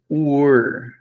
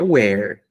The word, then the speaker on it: were: Estava, nós vimos na aula passada, que é were. Were. You were. Não confundir com aquele que é where. Né? Esse aqui, a pronúncia é where. Esse aqui não tem H. E a pronúncia é were.